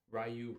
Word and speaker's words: Ryu: you had to play as Ryu, Rayu, however you want to pronounce it. I'm pretty sure it's Ryu, so I'm going to try to stick with that.